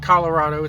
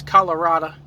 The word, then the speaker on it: Colorado: you're uh if you're from colorado you don't pronounce first off it's not colorado it's colorada yeah i'm from colorado and and you don't